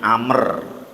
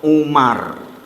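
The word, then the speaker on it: عمرو: bacanya amr mimnya sukun karena di situ ada huruf wawunya ain mim ro wa wwaka bacanya amr kalau tidak ada wwunya bacanya adalah Umar pakai ain juga cuma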